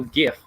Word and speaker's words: GIF: And there you can see a beautiful little GIF, hard G, that explains how to get into Google Groups.